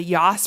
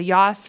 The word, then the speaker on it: Yass: for something called the YOS Prize, and that is considered what is called a Pulitzer for Education Innovation. The YOS Foundation, it's spelled like YASS, like Bass, but with a Y.